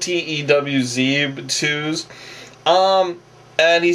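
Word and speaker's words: Tewz: It's spelled T-E-W-Z, Twos.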